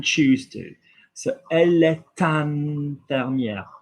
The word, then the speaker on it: infirmière: So, elle est infirmière. Look at IN. What did I say? Like wine, IN. infirmière. So like vin, infirmière, we're pronouncing the R because there is an E after it.